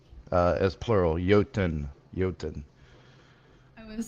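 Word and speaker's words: Jötunn: It's pronounced the Jotnar as plural. Jotun. I would have said Juntin.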